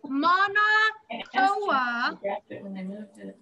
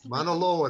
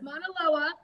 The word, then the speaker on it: Mauna Loa: It's Mauna Koa. I don't know if I pronounced that correct. Mauna Loa. That's very good. Mauna Loa.